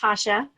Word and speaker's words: Tatya: Yes, yes, Tatya, hi. Hi, it's actually pronounced Tasha.